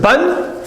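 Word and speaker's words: بً: So tanween fathin is pronounced ban, tanween kasrin is pronounced bin.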